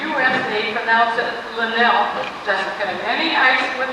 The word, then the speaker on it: Linnell: it ended with and it rhymes with hell and telling them and whatever Falls Wisconsin that some 600 homes in the U.S and they've announced that Lynelle doesn't have any ice